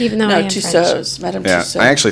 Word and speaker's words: Tussauds: Tussauds. Tussauds.